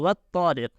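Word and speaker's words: والطارق: So wat-tariq, this ta is pronounced with emphasis.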